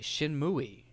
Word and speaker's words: Shenmue: Shenmue. That's how the Japanese pronounce it.